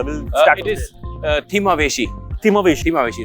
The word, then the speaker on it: Thimaaveshi: Sir pronunciation क्या है इस बोट का? Will start. It इज थिमावेशी.